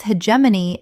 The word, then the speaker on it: hegemony: The G makes a J sound. Example. The company's hegemony in the market lasted for 2 decades before a startup disrupted everything overnight.